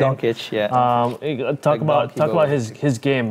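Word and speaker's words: Dončić: Doncic, yeah.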